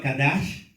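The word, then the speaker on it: קדש: Algunos ya lo apuntaron, así que no se preocupen, pero consagración, del hebreo kadash, ¿sí? Lo pueden escribir así, kadash con C, acento en la A, SH al final, kadash.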